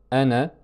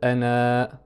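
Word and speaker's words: أنا: Donc il s'écrit ainsi avec un alif à la fin, mais ne se prononce pas avec une prolongation. On ne va pas dire ana, c'est ana, comme s'il y avait un soukoun ici en fait.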